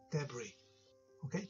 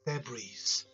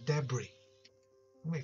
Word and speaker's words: debris: Hello，大家好，欢迎你收睇我嘅 YouTube channel 英国生活英语讲正啲。我系 Man 啊，今次同大家讲一讲第二节嘅 Advanced Vocab，系关于一啲比较困难少少嘅发音嘅生字，或者好多时会构成误会嘅。OK，我哋依家立即开始。Right, first one， debris， debris，大家可以睇到咧，咦，串出嚟咧有个 s 收尾，但系咧，我哋咧就唔读 s 呢个音喎，我哋净系读 debris。OK，千祈唔好读 debris 咧系错嘅。Right，正确就系 debris。咁 example 就系、是。I've got to clean up the debris.